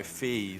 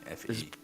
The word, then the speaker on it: Fe: yeah F oh no Fe they pronounced it Fe Fe it was pronounced Fe wasn't it yeah um